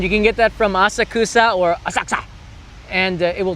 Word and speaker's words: Asakusa: So people say I don't say I say Asakusa. I don't say it like a local.